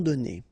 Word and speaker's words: donnés: Okay, so the good news is that you don't pronounce it, so donner, okay, so whether it would be without this final es or with E-S, you will pronounce it the same way.